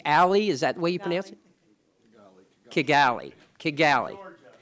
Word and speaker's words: Kigali: is that we've miss Kigali Kigali that Kigali is the way you pronounce it in Geechee that's what